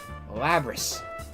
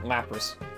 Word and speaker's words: Lapras: looking for the mysterious Lapras. Oh, I said it wrong, Lapras.